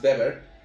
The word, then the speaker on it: Weber: O, por poner otro ejemplo, Max Weber, o Weber para algunos, su pronunciación es Max Weber, define el Estado como